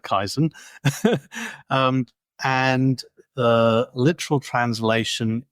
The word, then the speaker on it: Kaizen: for beginner um 101 Kaizen is a Japanese word I'm probably making a mess of pronouncing it but I call it kaisen um and the literal